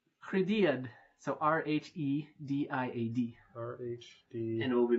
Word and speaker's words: Rhediad: So Rhediad.